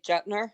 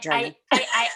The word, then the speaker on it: Jetner: father so is it would you say jetner is that how i would pronounce that name yeah okay so not journey well you know what